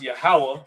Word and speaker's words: Yahweh: this is actually explaining is that this is pronounced Yahweh, right?